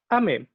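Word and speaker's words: 雨: Ame. Esta pequeña ventanita con gotitas pegadas en ella. Es lluvia. Lluvia por sí solo es ame. Aunque también puede pronunciarse como ama cuando se combina con ciertos kanjis.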